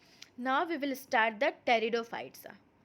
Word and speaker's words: pteridophytes: Now we will start the pteridophytes. In this P is silent, so it is pronounced as pteridophytes.